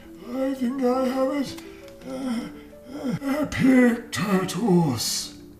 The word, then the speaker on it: Epictetus: Epictetus. 4 powerful syllables.